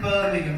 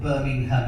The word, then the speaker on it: Birmingham: you seen me says I was in Birmingham this is an absolutely sorry Captain true story